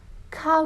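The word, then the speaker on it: 가: صدای ا رو میده میگیم صدای که به علاوه صدای آ چه صدایی رو میده صدای یا تلفظ کا رو میده کا کا یعنی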